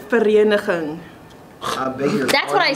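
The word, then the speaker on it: Vereeniging: So the actual pronunciation is verenigen.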